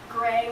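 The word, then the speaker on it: Griegh: run deep right costumes says gray but spelled g-r-i-e-g-h hold on did you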